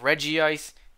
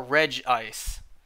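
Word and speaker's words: Regice: off of the anime the anime said both reggie ice and regis so the way i interpret that you can say it either way because both pronunciations are correct so you can say either reggie ice or reg ice i say reggie eyes because all the other ones start with reggie do i forgot did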